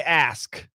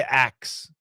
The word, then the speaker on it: ask: to ask yeah so once again say ask don't say axe if you axe somebody you might kill them don't be killing anybody all right say ask but yeah you you may hear some Americans say axe you won't hear me saying it I don't say